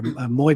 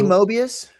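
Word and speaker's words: Moebius: You're saying you're saying it wrong. It's Mobius. Moius. Mobius. Moius. Say say Mo and then say mobius. He's French.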